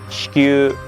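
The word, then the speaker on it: 子宮: the uterus, which is written like this, pronounced shikyu, same letter.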